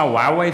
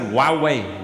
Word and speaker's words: Huawei: to to fix my Huawei phone yeah yeah that's how I pronounce it Huawei Huawei yeah I know you write it who are we but but yeah you